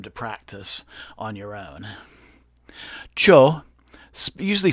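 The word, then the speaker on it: Chöd: practice on your own Cho usually spelled c-h-o-d but pronounce d is not pronounced so it's cha it's a traditional meditation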